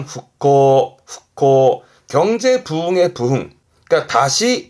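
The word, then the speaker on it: 復興: 발음은 흑호 후코 경제 부흥의 부흥 그니까 다시 일으킨다.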